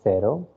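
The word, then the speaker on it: cero: in your notebook so zero starts it's called sero okay c is pronounced here as sur sound so it is zero so don't say something like uh kero or anything else okay then starts with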